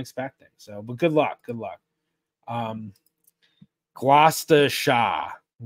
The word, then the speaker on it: Gloucestershire: Gloucestershire, not Shire. I my pronunciations are terrible, but thank you. Okay. Yeah, I see a lot of people tell me how to pronounce it. Hello, ironically, sardonically. Yeah, I think everywhere Shire is pronounced sheer.